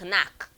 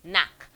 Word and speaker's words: knack: The K is silent, so it's not knack, okay? It is knack.